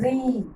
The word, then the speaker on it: ऋ: रा नहीं है, ये है री। क्या है? री। री से ऋषि, इसलिए उच्चारण में ध्यान देना। री से ऋषि है, इसका उच्चारण आता है री। क्या आता है इसका उच्चारण? री, र नहीं, री। री से ऋषि का उच्चारण मतलब साउंड आती है री।